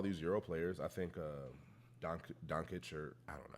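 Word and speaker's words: Dončić: I think Doncic, or I don't know how to pronounce his name. Doncic.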